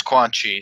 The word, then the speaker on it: Quan Chi: what somebody could kill his family it was quad chi am i pronouncing that right right yeah yeah it's quan chi so it right there it's revealed after he